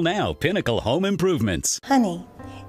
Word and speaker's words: Pinnacle: It's Picanol, Picanol Home Improvement.